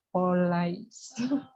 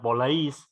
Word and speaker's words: policy: I'd prefer I prefer to trust the company's policy. Bukan polais, policy. Policy. Nah, policy ya, bukan I polisi. prefer I'd prefer to trust the company's policy. ya. Nanti dilihat lagi ya, policy. Saya pengucapannya policy bukan polisi.